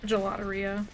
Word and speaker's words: Gelateria: Gelateria. Yeah, that makes probably more sense. Yeah, it's a really weird word, because, like, phonetically it looks like Galateria.